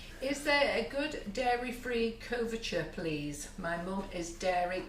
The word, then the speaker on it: couverture: Oh, couverture, I think you pronounced Couverture, it, yeah. or coverture. It's Couverture. basically it's chocolate, but it's quality chocolate.